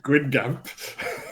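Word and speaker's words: Guingamp: So I had I had EA Gwin Gamp and Rams left to play. I drew 22 to pronunciation spot on by the way. Yeah, Gwin Gamp. Quing Gamp.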